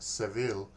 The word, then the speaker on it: Seville: Now, we are up to the 269th Regiment, Seville. Or Sevilla, I believe, is the other pronunciation.